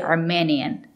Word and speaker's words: Armenian: n Armenian Armenian Armenian it's not correct to say Armenian you have to use the long e Armenian the country is